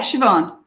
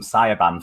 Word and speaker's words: Siobhan: I knew someone once, and I called them Sayaban for ages until I actually realised that I was saying it wrong. No, that's not how you say it in Ireland.